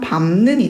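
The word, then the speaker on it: 밟는: 네, 근데 시팡에 따라서 밥는이 아니라 최종 발음은 비음화가 일어난 밤는이 돼야 되겠죠?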